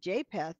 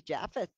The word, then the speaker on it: Japheth: and one of them I was pronouncing it jpath and it's actually japheth I was like whoa